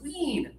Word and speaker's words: wean: very easy to pronounce, wean. wean Yeah, so the system is the double vowel, e a or e e usually means it's high tongue and just a little air.